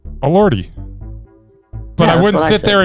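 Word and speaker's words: Elordi: How would you pronounce E L O R DI? Allorty, but I wouldn't sit there and I wouldn't sit there and stutter. All just a lordy.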